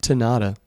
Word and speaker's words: tanata: came up with that tanata kind of rhymes with pinata and Sonata shut up Brandon anyway